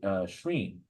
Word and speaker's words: scrin: scny as well as Old English scrin where it's pronounced shreen okay the distinctive pronunciation